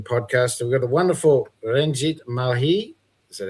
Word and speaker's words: Ranjit Malhi: We got the wonderful Renjit Mali. Is that how you pronounce it, mate?